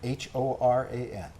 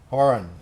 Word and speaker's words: Horan: Horan, yeah, that's right, which is the Irish pronunciation, but we've pronounced it Horan.